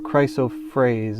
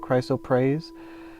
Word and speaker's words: chrysoprase: and this one is called chrysoprase or chrysophrase. It depends on who spells it. I think it's spelled Prase, so I call it chrysoprase.